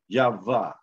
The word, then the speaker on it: YaHaWaH: Then when you take the syllable breakdown, Y-H-V-H, which is not Y-H-W-H, which it is Y-H-V-H. So YaHaWaH or YaHaWaH.